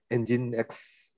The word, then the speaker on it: Nginx: So this is the you pronounce it as Nginx components.